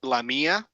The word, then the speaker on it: LaMia: mine in South America and uh it's actually pronounced lamia and lamia is um it's a an acronym